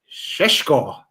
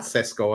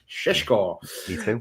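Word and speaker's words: Šeško: Next one is Shesho as that's how you pronounce his name apparently. Not Cesco as I was saying all for the last good number of years. Shesho like you're Sean Conry.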